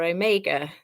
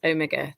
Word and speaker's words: Omega: did you get it right it's Omega or Omega the last letter of the alphabet so you